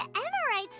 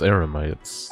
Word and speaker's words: Eremites: He not only got us our Mora back, but sent the Emirites running too! Oh, she said it wrong. Emirites is Eremites.